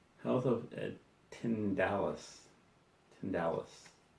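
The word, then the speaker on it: Tindalos: Hounds of Tinsel. Hounds of Tindalis. Tindalis, I believe is how it's pronounced. I always call it tinsel, I don't know why.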